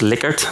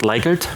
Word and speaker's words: Likert: And yes, it is pronounced Likert, not Likert.